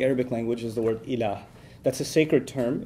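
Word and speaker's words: إله: which there's the term ilah. If you want to write that in English, it would be I-L-A-A-H, ilah. It's pretty easy to pronounce in English, okay?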